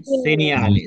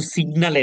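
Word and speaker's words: segnale: সেনিয়ালে, সেনিয়াল উচ্চারণ করতে পারেন আপনারা? সেনিয়াল। সিনিয়ালে। সিনিয়ালে, এটা কিন্তু সিগনালে না।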